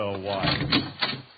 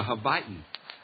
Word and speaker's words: Hawaii: Maybe you can get her to go to Hawaii. Hawaii. What's the difference? It's a lot of difference. One is pronounced with a V and the other with a W.